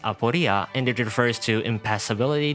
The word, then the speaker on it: Aporia: Her codename is pronounced Aporia, and it refers to impassibility, difficulty, impossibility, uncertainty, doubt, anxiety, or a puzzle, among other things.